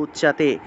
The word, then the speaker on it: উচ্যতে: মিথ্যাচারঃ, চারঃ স উচ্যতে, চয়ের সাথে জফলা থাকায় চিয় উচ্চারণ, উচ্যতে, উচ্যতে এইভাবে উচ্চারণ করবেন। এখন আপনারা যদি উচিয়তে উচিয়তে বলেন হবে না, উচিয়তে বললে হবে না, উ চিয়াতে, চিয়তেটা একসাথে বলতে হবে, উ চিয়াতে, উ চিয়াতে, এইভাবে।